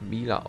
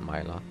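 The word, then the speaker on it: Milla: und ich habe herausgefunden ihr name wird glaube ich miller ausgesprochen anstatt meiner wahrscheinlich wird es ewig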